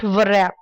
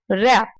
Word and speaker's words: wrap: first one is rap not virap rap rap there are two meanings